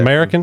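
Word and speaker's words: Mariken: American. American. American. Yes, it's not spelled like American. It's just a weird spelling.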